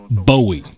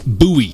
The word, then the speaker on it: Bowie: named after him and his name was pronounced buoy not Bowie so some people get really upset if you mispronounce buoy if you pronounce it